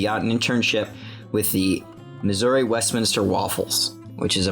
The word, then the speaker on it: Missouri: It's Missouri, not Missouri. Missouri.